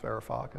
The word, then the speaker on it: Varoufakis: Yanis Varoufakis. Is that how you pronounce it?